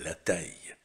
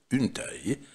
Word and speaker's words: taille: Eh bien, le mot suivant, c'est la taille. La taille, une taille, как может быть таля, так и размер.